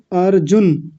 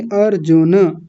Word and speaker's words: अर्जुन: अर्जुन। अर्जुन नहीं, अर्जुन। उन्होंने न को आधा कर दिया था।